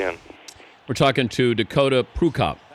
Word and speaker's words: Prukop: We're talking to Dakota Prukop. Am I pronouncing that correctly? Somewhat. Prukop. It's always a little variation. It's Prukop. Prukop.